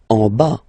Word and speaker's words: en bas: En bas. Final S not pronounced.